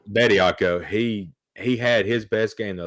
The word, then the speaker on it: Bediako: But I want to give a shout out to Charles DiBiaco. I think I always say his name wrong, but Bediako. Bediako.